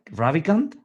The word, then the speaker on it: Ravikant: Ravikant?